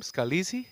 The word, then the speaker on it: Scalise: Is that how we pronounce his family name? Scalise? Yes, sir. Definitely. How you pronounce it and he's at uh seven under par.